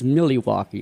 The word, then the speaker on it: Milwaukee: even Milwaukee need no actually it's Milly Waukee as how it's pronounced that means City by